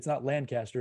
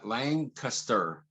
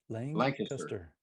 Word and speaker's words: Lancaster: It's not Lancaster. It's say it again. It's kind of Lang, L-A-N-G. Yeah, Lancaster. Lancaster.